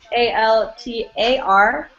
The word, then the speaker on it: altar: But because of the neutral E in English, right, the in altar, they're pronounced the same.